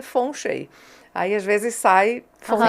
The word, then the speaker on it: feng shui: como os chineses falam fengchi é como os brasileiros olham escrito e leem mas o o a pronúncia original na China é fon Chei aí às vezes sai